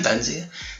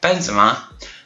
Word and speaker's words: Benzema: two bends yet uh Benzema why am I saying benzia Benzema and he also has